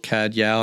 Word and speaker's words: Cadzow: Well, there's some debate about CADzo, CAD Yao. I mean, it's spelled C A D Z O W. So, I find that most people that have never met me or they're going to say CAD zo.